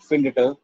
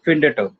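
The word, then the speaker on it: findet: इसलिए प्रोनाउंसिएशन को इजी करने के लिए हम लोग इन दोनों में एक एक्स्ट्रा टी ऐड कर देते हैं, तो ये हो जाता है फिंडेट। प्रोनाउंस करने में सिंपल।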